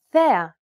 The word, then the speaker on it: θέα: This accent just indicates that you need to stress the syllable. That's it. Κάλος, καλός. Νόμος, νομός. Θέα, θεά. Notice how the accented syllables are emphasized? It's pronounced a little bit louder and longer than the surrounding syllables.